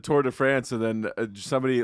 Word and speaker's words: Tour de France: But I thought it's the Tour de France.